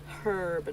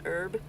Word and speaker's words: herb: Herb, not herb.